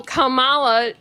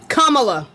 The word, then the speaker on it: Kamala: So Kamala always has said That's not how you say her name. Kamala. Kamala.